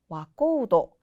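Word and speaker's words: 若人: 자, 이런 식으로 나코도, 우도라고 발음되는 경우를 추가적으로 알아볼게요. 젊은이는 와코우도, 그리고 사냥꾼은 가류도라고 합니다.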